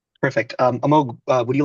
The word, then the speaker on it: Amogh: Uh so you know before we get started with the questions um Amog do you want to um first of all I am pronouncing that correct right perfect. Um Amog would you like to introduce yourself real quick?